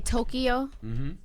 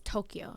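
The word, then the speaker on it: 東京: you know how like we say Tokyo but the Japanese way to say is is Tokyo like it's supposed to be two syllables so I one day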